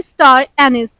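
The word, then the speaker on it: star anise: में ही आता है तो इसका का सही प्रोनंसिएशन है बहुत कायदे से सुनिए स्टार एनिस स्टार एनिस अजवाइन के पत्ते लोग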